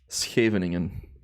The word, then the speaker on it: Scheveningen: Also, not many English-speaking people can say SCH, the sound, I guess. Scheveningen. I had this with my buddy Chris yesterday. He did it quite well, actually. But yeah, we call that a soft G.